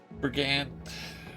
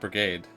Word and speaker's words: brigand: You're a second in command in a mercenary company that has been tracking Brigand. Why am I forgetting how to say this word? It's not brigade. Brigand?